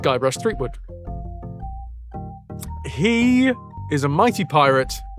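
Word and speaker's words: Guybrush Threepwood: So this is Guybras uh Thwood pronounced Guy Brush Threewood.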